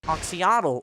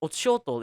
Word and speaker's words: Oxyotl: the trailer was oxyotl, or oxyotl if you know how to pronounce names in Aztec. I was gonna say oxyotl to the entire video because oxyotl sounds kind of weird for me, but yeah, that's how you pronounce him.